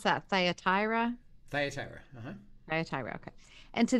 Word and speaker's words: Thyatira: 18 through 29 all right and do you pronounce that thyatira thyatira uh-huh okay and to the angel of